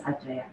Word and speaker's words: Aceh: Aceh, is this the correct pronunciation? Yes, Aceh.